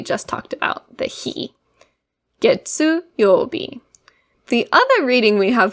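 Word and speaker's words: 月曜日: Getsu is the reading that we see in getsu-yo-bi. So when we write getsu-yo-bi, we start with this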